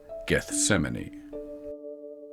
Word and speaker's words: Gethsemane: the ripened black fruits we in our time pronounced the name of the garden Gethsemane following the Passover meal or seder and under